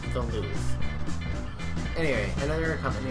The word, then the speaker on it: Louvre: Yes, it is pronounced the Louvre.